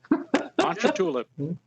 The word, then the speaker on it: Ponchatoula: And I hope I pronounce this correctly. The Ponchatoula/Hammond area will do. Very good. He got Ponchatoula. Ponchatoula.